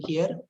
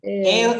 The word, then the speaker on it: hair: Is it the correct pronunciation? No, sir. What's the correct pronunciation then? Ear. Air. Air is the correct pronunciation. Air. Okay. Take it as air. Pronounce it as air.